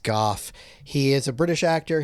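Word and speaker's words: Gough: like alfred alfred is played by uh michael grow it's actually pronounced goth he is a british actor he's been in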